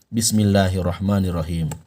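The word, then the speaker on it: بِسْمِ اللَّهِ الرَّحْمَٰنِ الرَّحِيمِ: saya kutip dari buku sakuranya Samudra Quran maka cara baca Bismillahirrohmanirrohim yang benar adalah Bismillahirrohmanirrohim perhatikan Bismillahirrohmanirrohim Bukan dibaca Bismillahirohmanirohim Kim kurang tepat yang tepat adalah Bismillahirrohmanirrohim Saya ulang Bismillahirrohmanirrohim Coba anda ikuti Bismillahirrohmanirrohim silakan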